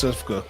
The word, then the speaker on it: Sivka: I know it's Sifka.